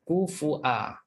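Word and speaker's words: كفؤا: Kufua dalam surah al-Ikhlas bacanya kufua. Okey. Ada hamzah pada wau kufua.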